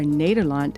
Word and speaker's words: Nederland: The Netherlands, or Nederland as it's pronounced, has 12 provinces.